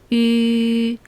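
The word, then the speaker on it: ü: 그리고 가장 중요한 마지막 발음, 우 위에 점 2개가 붙어 있는 거 보이시죠? 이 발음은 입 모양을 우로 한 상태에서 입술 모양을 최대한 변형시키지 말고 이로 발음하는 거예요. 그러면 양쪽 입술 끝 볼 근육에 힘이 들어가면서 찌그러진 위를 발음한다고 연상하세요. 소리가 입 밖으로 빠져나오지 못하고 갇혀있다는 느낌도 들 거예요.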